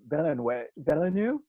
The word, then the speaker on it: Villeneuve: I didn't realize that Denis Villeneuve, is Ooh, that how that's you pronounce his name? actually- Director? Villeneuve.